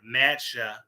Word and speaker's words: matcha: of tea does and the word is spelled m-a-t-c-h-a so that's what I'm saying it like that okay eat the whole